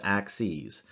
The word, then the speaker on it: axes: the plural all right it's a weird plural you say it as axes all right it is spelled the same word way as x is but it's x and y axes when there's two of them all right so these